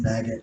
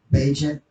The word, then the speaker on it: Bagent: Um, Tyson Baggett, I already told you guys, or Bagent is actually how you say his name, Tyson Bagent.